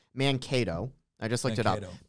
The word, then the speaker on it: Mankato: By the way, first off, it's actually pronounced Mankato.